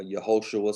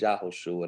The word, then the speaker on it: Yahushua: But we know, like I said, we know that Yahushua, or Yehoshua, some people say, Yehoshua or Yahushua, it's different pronunciations, but it's Yahushua. That's how I like to say it.